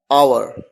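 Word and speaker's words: hour: और ऐसा भी कहा जाता है कि एच एक साइलेंट है, इसी वजह से भी आवर की ध्वनि आती है, आवर।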